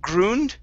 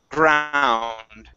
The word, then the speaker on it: ground: uh next we have the word ground instead of gred okay this is an ound ground ground okay very nice uh